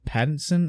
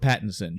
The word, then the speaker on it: Pattinson: yesterday afternoon I forget regardless so Robert patted Pattinson I believe is how you pronounce his name I should type it in